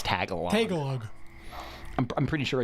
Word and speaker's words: Tagalog: It's Tagalog.